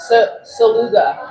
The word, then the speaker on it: Szeluga: Somebody decided at some point to just treat the Z like it was silent. Saluga.